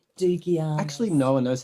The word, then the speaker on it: Dougiamas: Dougiamas. Dougiamas. Actually, no one knows how to say it because it's a Greek name that my dad brought to Australia and it got anglicised. And we were saying Dougiamas for a while.